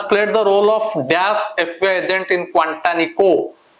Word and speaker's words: FBI: the role of dash FBI agent in Quantanico F A रे आरंभ होची an FBI agent जदि F लिखा है छि consonant sound किंतु लेटर टा जो प्रोनाउंसिएशन टा vowel sound होची an FBI agent an